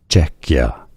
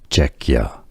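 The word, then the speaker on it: Czechia: Czecha stress on the first syllable Czecha.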